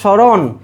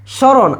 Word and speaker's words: স্মরণ: দেখো তাইলে এখানে দেখো স্মরণ, স্মরণ। আচ্ছা স্মরণে আমাকে বলো তো দন্তস্বর উচ্চারণটা কি? ছর মতো, স্মরণ না স্মরণ? স্বর মতো। তাহলে স্বর মতো হয়েছে যেহেতু, তাহলে তালব্যস্য।